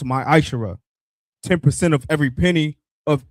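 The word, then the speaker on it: ma'aser: of Malachi 3:es 8-10 means 10th in the Hebrew and is pronounced my Aisha 10% of every penny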